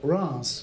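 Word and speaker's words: Reims: in europe in the town of bronze which is spelled r-e-i-m-s but not pronounced that way right they have the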